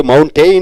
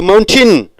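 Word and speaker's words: mountain: மவுண்டெயின் என்று சொல்லக்கூடாது, மவுண்டின்.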